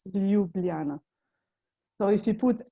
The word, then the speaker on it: Ljubljana: it's without the j's j is pronounced as y in slovenian language so that is why it's lubliana so if you put